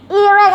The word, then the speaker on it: earache: Earache, apa bacanya Bim? Earache, betul earache. Iya, earache, bukan Irak ya.